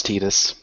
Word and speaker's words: Tidus: I don't like Titus, or Titus, Yeah. whatever way you want to pronounce it. Uh-huh. I think it's supposed to be Titus, Yeah, it's Tidus.